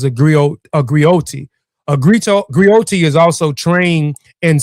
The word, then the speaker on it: griot: I pronounce Grio has been referred to as a historian, a